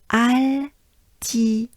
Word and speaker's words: Altiport: So a, and then we'll have I as a banana smile, I, and or, French R as a breath, or. So again, a, I, or, altiport, altiport, and it's really l'altiport, right?